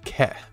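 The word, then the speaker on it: け: And then finally, we have the rounded side column, or kana, that's pronounced ke, because it looks like a keg.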